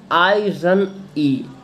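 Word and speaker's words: irony: आयरनी क्या होता है, आयरनी प्रोनाउंस्ड आई रन ई, यानी इसे जब प्रोनाउंस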